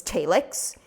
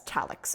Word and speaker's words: Thalix: but uh for example Zach pronounces Thalix as TAY-lix whereas everyone else will pronounce it as TAL-lix including Cassidy including Tori